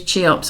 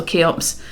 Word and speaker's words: Cheops: it's not entirely wrong if you do use cheops or keops in your writing people would question why you